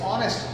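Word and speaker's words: honest: या देखिए इट्स ऑनेस्ट, ओ एन ई एस टी, एच यहां पर साइलेंट है, तो जो चीज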